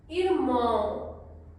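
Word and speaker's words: irmã: है माई माय mother इरमा again nasal sound इरमा इरमा brother इरमा इरमा sister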